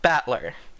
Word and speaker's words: Battler: The problem is my own name is made up of the characters for fight and person, and it's pronounced battler.